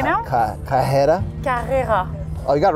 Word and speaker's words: Carrera: Carrera. Wow, you French are just so eloquent. It's Carrera in America. Excuse me. Yeah, it's Carrera in French. Wow. You wanna battle right now? Carrera.